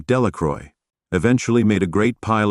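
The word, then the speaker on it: Delacroix: and Harry Jones and Dicky dequa the villagers pronounced this name delacroy eventually made a great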